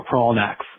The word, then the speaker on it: Kraalnax: It's spelled Kraalnax, but you can just pronounce it like crawl, like the word crawl, and knack, like the word, like I have a knack for this, with just an S at the end, so Kronax. Anyway, I'm calling in for